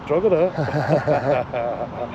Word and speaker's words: Drogheda: I've been told in the comments that's not how you pronounce it. Let me hear. I'm not asking you, I'm telling you, it's Drogheda.